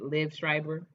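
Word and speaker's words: Liev Schreiber: um and subsequently the president is played by liv schreiber and i pronounce his name right liv schreiber uh and i have loved liv strivers acting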